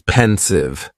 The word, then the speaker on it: pensive: Next is pensive and the pronunciation is very easy. Just two syllables and the stress is on that first syllable.